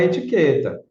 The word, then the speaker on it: etiqueta: Porque o U não é pronunciado na palavra etiqueta, mas na palavra enquanto,